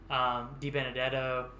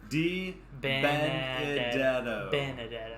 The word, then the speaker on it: Di Benedetto: Di Benedetto, again we've talked about every week, who is somebody who I think, you know, can be a top 15 to top 10.